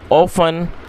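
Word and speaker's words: often: दोस्तों ये जो वर्ड है OFTN, इसमें जो टी है वो साइलेंट है, तो हम इसको प्रोनाउंस नहीं करेंगे, तो हम इसको ऑफन पढ़ेंगे, और ऑफन का मतलब होता है प्राय या फिर अक्सर।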